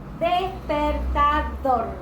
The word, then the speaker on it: despertador: Despertador, la sílaba tónica es dor.